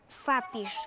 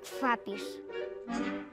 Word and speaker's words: Kfapir: Mi apellido se pronuncia Kfapir, como si estuvieras diciendo una F, Kfapir.